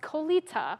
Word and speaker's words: Coletta: was telling me that Coletta is pronounced kolita which now I know